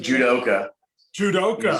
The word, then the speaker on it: judoka: Judoka.